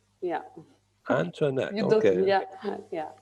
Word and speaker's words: Antoneac: Antoneac. Oh, so we don't say the E. Yeah, it's Antoneac. Yeah. Antoneac.